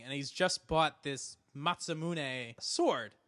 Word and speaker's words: Masamune: our commenters did mention the pronunciation of this is it's Masamune but not matzah moody but he also pointed